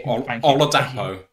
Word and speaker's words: Oladapo: or acatan oladapo who I have checked the pronunciation for oladapo is is how it said so there we go